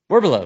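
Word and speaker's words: Werbylo: Werbelo. Werbelo. Yes, there you go. I feel like that's the right way to say it.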